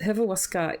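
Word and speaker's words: Hrvatska: Croatian so this pronunciation so yeah this hivawaska is how a Croatian would say their country name so that is the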